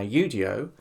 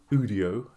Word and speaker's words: Udio: Now, UIO, which is how it's supposed to be pronounced, not Udio that a lot of people call it, um was bought over by UMG.